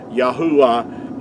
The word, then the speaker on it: Yahuah: pronounced making vow sounds yahua is the way that our Creator's name is pronounced I hope this has